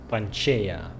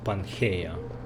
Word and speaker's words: Panchaea: So it's pronounced Panchaea, not Pangaea.